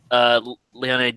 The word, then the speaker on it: Leone: Leone, I know it's pronounced Leone, but the other one I keep forgetting.